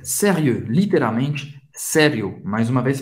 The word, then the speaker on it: sérieux: Sérieux. Sérieux. O X não se pronuncia. E o em francês tem o som do E bem fechado. Faz a boca do O e fala E. E. Sérieux.